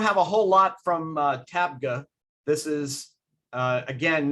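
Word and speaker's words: Tabgha: come here to tag tabga i always want to say tag book but it's tabga you can see it how it's spelled it's a benedictine cloister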